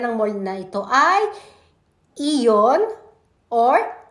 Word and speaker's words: Aeon: dito ang pangalan ng mall na ito ay Eon or aon Marami kasing basa maraming bigkas ewan ko sa basa ako ang basa